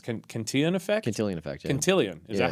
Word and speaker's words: Cantillon: You talk, is that where I have I think you mentioned how is it pronounced? Cantillon effect? Cantillon effect, yeah.